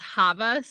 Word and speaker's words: Chava: okay yeah go ahead my name it's it's pronounced Havas this is silent yes and then my